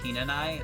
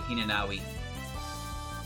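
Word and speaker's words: Hinanawi: that tenshi's name is Hina Nai it's h-i-n-a uh n-a-w-i but you don't pronounce the W otherwise your name would be hinenawi so her and uh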